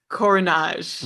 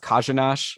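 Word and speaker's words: Kořenář: Okay, so they have Carter Hutton and Joseph Korenar. Right, they traded Hill for Korenar. Right. Or I think it's pronounced Kajanash. I think both R's are Zhuz.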